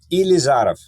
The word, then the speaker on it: Ilizarov: Ilizarov.